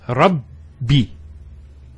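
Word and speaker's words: رَبِّ: The first ba takes a sukun, and the second takes a kasra. So it's Rabbi.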